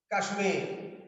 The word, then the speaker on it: কাশ্মীর: যেমন কাশ্মীর, কাশ্মীর, তখন ময়ের উচ্চারণ হবে।